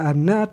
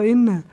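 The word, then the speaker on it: إنّ: tidak berbaris misalnya kan, apakah kita baca dia anna atau inna? Nah, berarti di sana kita harus membacanya dengan inna, karena disinilah ketentuannya. Kita baca inna itu ketika dia itu jatuh di awal kata atau di awal kalimat, misalnya di sini al-ibtida.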